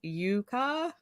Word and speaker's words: yucca: I don't think so Yucca is way more fun to say but I I appreciate the correction um if you'd like to say it correctly it's Yuka is that how you say